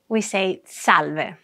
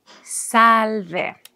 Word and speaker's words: salve: We say salve. The pronunciation is easy. Salve. And it's written as it sounds. S-A-L-V-E.